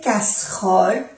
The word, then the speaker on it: casserole: Dans ce meuble se trouvent les casseroles, no se pronuncia la E, casserole, tampoco la E ni